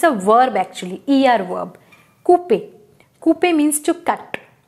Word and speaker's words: couper: Another example is Couper. C-O-U, right? Cou. P-E-R. It's a verb actually. E-R verb. Couper.